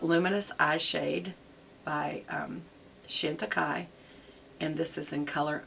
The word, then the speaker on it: Chantecaille: these a lot and shantika by the way is spelled it's it's french so it's c-h-a-n-t-i-c-a-i-l-l-e it looks like chanti kale but anyway um she